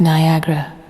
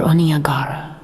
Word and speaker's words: Niagara: The cataract of Niagara, properly pronounced Niagara or Oniagara, is as fatal as